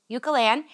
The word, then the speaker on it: Eucalan: I always have a problem pronouncing that, so I apologize. But it's Eucalan and it's a wool wash.